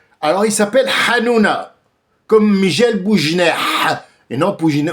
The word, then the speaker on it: Hanouna: Alors, d'abord, il s'appelle Hannouna. C'est Cyril Hanouna. Alors, il y a pas de Hanouna. Les juifs ne ne prononcent pas le ha.